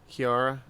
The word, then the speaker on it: Chiara: been co-facilitated workshops with uh I can never pronounce his name Chiara it's it's Chiara Kiara i a r who cares Adams Adams Julie